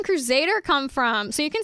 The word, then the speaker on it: Kruzadar: I personally pronounce it like Crusader because like ZZZ.